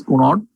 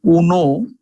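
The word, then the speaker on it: Cuneo: the anatomical surgeons is Cunard. The pronunciation is not exactly Cunard, it is Cuno.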